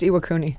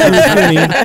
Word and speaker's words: Iwakuni: It's pronounced Iwakuni. It is pronounced Iwakuni.